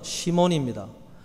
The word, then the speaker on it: 시몬: 이 히브리식 발음이고 헬라식 발음은 시몬입니다.